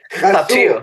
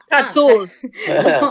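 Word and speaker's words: חתול: Chasul, cat. Hatul. אני hatil. Didn't get that. Okay. But well, cat is Kathy, so cool. Hatul.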